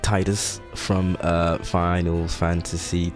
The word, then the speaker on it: Tidus: I might even play through it maybe, but we have Tidus, who looks like Tidus from Final Fantasy X. That is because I know it's pronounced Tidus, I don't care, but he was